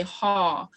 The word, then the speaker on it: haw: with something, you say haw. So that's the second haw that you see on the screen. Haw with the diacritic that goes up and your voice inflection goes up is a question.